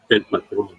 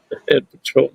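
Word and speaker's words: El Patrón: The pronunciation. El Patron. El Patron. Yeah, roll those R's.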